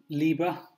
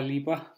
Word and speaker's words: Liebherr: this is my fridge Libra believe that's how you pronounce it it's a German did a lot of